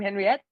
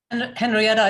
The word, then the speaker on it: Henriette: you say your name Henriette Henrietta is fine okay come on hi